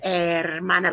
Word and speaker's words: hermana: Su hermana, like the air we breathe, silent H.